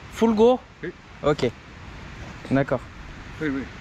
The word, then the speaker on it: Fulgur: Et tu prononces comment le nom? Fulgur. Fulgur?